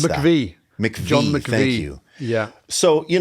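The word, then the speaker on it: McVie: How do you pronounce that? MCV. McVy, thank you.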